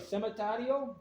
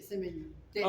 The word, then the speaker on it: cementerio: ¿Cementario? Este se llama cementario. Sí, cementerio. Okay.